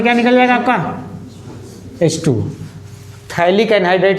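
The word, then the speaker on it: phthalic: बोलते हैं थाइलिक एनहाइड्राइड। क्या बोलते हैं? थाइलिक एनहाइड्राइड। पथाइलिक एनहाइड्राइड मत बोल देना, P साइलेंट है, नहीं पथाइलिक।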